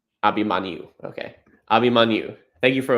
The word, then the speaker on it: Abhimanyu: And can you tell me how to pronounce again how Abhimanyu? Abhimanyu. Abhimanyu.